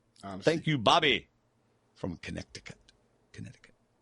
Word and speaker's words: Connecticut: You Bobby from Connecticut Connecticut I wonder why the C is silent in Connecticut I wonder go ahead